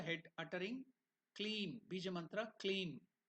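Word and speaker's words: क्लीं: slowly around the head uttering clean be manra clean k l e e m you can see that clean the pronunciation I will go to the meaning of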